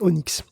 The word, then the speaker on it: ONNX: d'esperéranto du Deep learning c'est Onix donc Onix ça ça s'écrit onnx et on s'en sert